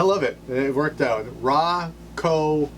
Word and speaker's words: Rakau: it they worked out raw Co hops saying it right according to one phonetic spelling yeah all right Regina